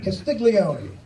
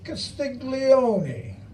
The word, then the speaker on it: Castiglione: Castiglione, 11 for 11, 110%. 5 beautiful syllables out of 11 letters. Castiglione.